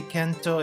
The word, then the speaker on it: Kento: just saying so yeah it's a Japanese pronunciation thing uh because Kent doesn't re does doesn't really roll off the tongue very well in Japanese so it would be Kent